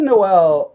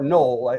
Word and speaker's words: Noel: And I think if you're looking for a bizarre play especially for Sunday, but even for the weekend slate, Jaylen Noel or Knoll actually as it's pronounced, if we have no Collins, I love Jaylen Knoll.